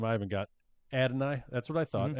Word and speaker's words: Adonai: And then at 7-5, do you know how to pronounce this guy's name? I haven't got Adonai. That's what I thought. Mm-hmm. Adonai Mitchell.